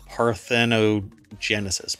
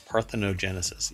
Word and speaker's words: parthenogenesis: that's apparently called facultative parthenogenesis parthenogenesis again for some reason I thought that there was another syllable in here parthio um and just goes